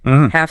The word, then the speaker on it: half: Half silent L.